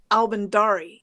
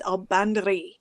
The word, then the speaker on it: Albandari: Like everybody says this woman's name, Albandari. It's not. I asked her. It's Albandari.